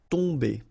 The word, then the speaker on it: tomber: Okay, so remember, you've got OM here, but after that you've got a consonant, so it does mean that this combination of OM will give you the sound on. Okay, you don't pronounce the M at all, so it's really a nasal, so it goes in your nose.